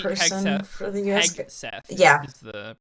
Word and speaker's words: Hegseth: One of them did a presentation about the Pete Hesketh, the war Pete person Hegseth. for the US. Hegseth Yeah, is the pronunciation.